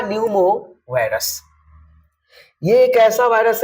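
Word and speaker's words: pneumovirus: है तो it's true यहां पर पी को साइलेंट करके पढ़िए ह्यूमन मेटा न्यूमो वायरस यह एक ऐसा वायरस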